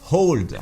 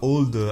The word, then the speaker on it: Auld: Et là, je dis bien Old, je prononce à la Scott, pas old à l'anglaise.